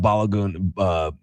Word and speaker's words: Balogun: I expect the USA to have to prepare without Balogun. That's how you pronounce it. Balogun, yeah.